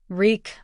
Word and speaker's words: Reek: Reek, I'm Reek. It rhymes with weak, he reminds himself again and again.